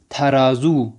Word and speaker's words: ترازو: ہوتا ہے۔ خوب، تو ترازو کو فارسی میں کہا جاتا ہے تھرازو، وہیں ترازو ہی کہتے ہیں، لیکن کیونکہ کہا کہ تا نہیں پڑھتے فارس والے بلکہ تھا پڑھتے ہیں، تو فارس کے تلفظ میں ہم پڑھیں گے تھرازو۔ خوب، اس کے بعد